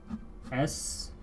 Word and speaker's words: estudiante: So I'm underlining it here because there's actually 2 E's in this word. At the beginning, estudiante. Well, they're the same pronunciation actually. Estudiante. Listen to it. Estudiante. Te. Like estudiante. I'm not gonna fuse them like that, but the E sound here is just Estudiante.